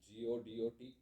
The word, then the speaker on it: Godot: GODOT। टी है तो बोलिए टी। सर टी साइलेंट है।